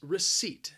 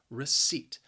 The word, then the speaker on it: receipt: up with the pronunciation there is a silent p in there you are not going to hear that p that second syllable just sounds like seat receipt if you go